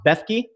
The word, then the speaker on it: Bethke: And Gogo, is it pronounced Bethke?